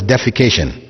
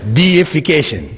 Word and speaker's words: deification: that word in English please don't pronounce it as defecation right because that has a whole different meaning alog together it's deification which means making something